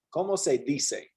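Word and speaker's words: cómo se dice: say d say yeah the c is pronounced like an s here como se di se okay como se dise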